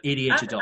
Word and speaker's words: ADHaDult: I mean, I don't really care, but it's spelled ADHaDult, and that's how I've been saying it. But ADHaDult.